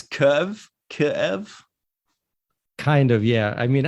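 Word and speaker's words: Kyiv: the spelling also that's why it's changed but Kiev is wrong and Kiev is the Russian way so both are wrong instead of a double syllable there it's curve Kev kind of yeah I mean I I don't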